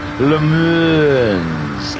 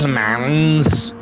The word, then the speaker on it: Le Mans: But my wife pointed out it drives her mad in the background when she hears me saying Le Mans. It's Le Mans. So she has put me on the right path, and I have spent the afternoon learning the right pronunciation of this track.